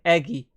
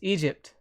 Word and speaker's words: Egypt: Whenever I saw it, I would say Eggy. But it's not. It's not even Eg. It's Egypt.